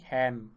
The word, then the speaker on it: Khen: Basically it is the Khen, right? So I am writing here the Assamese pronunciation Khen, right?